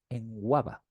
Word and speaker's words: Nwaba: a ser Olaseni o David Nwaba, en Guava. Importante la pronunciación.